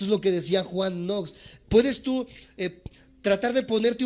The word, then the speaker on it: Knox: primero de estos grandes hombres se llama Juan nox se escribe K n o x kn n o x Juan nox y él